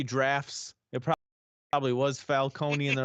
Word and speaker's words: Falcone: they're the same but apparently falcone is the right way of saying it like the entire nolan trilogy had said it wrong that makes sense i